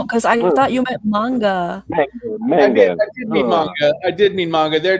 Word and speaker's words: manga: mangia about soldiers trained or sorry this classic manja about soldiers trying to find the silver crystal meets this denny's breakfast all-star this classic manga no i just need a clarification is it you mean manga manga sorry yes this classic manga about soldiers